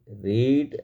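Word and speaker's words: read: गए रेड रेड रेड यहां past tense में रेड इसका जो उच्चारण होगा और प्रेजेंट टेंस में रीड होगा एंड वी रेड हमने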